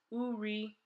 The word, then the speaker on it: uri: Another translation for brown in Igbo is uri. Let's spell it.